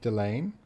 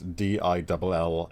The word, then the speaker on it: Dillane: Is it Frank Delane? Yeah, Frank Delane. I don't know if that's how you pronounce his name. It's Dillane, and I think that's Delane.